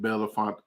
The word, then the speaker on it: Bellefontaine: in Bellefontaine um Ohio they call it Bellefonte I think Bellefonte Ohio but it's spelled Belafonte um at Don's downtown